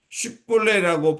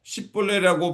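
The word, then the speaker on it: 쉽볼렛: 그래서 그 사람이 에브라 사람인지 아닌지 알기 위해 십볼레라고 발음해 보라고 했을 때 발음하지 못하고 십벌레라고 발음하면 그 사람이 에브라임 사람이라는 것을 알고 무려 42,000명이나 죽임을 당하게 됩니다.이 장면은 참으로 비극적인 싸움이었습니다.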